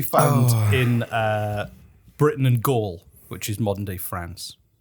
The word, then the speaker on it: Gaul: druids could be found in uh britain and gaul which is modern day france okay remember asterix